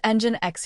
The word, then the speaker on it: Nginx: What is engine X? It is pronounced engine X. Here N is silent.